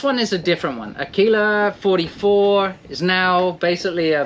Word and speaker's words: Aquila: It's an Aquila. Yeah. Is that correctly pronounced?